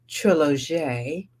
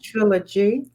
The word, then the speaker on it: Trilog: can let everybody know it is trilog trilog not trilogy but trilog the French pronunciation and spelling of Trilogy and it will not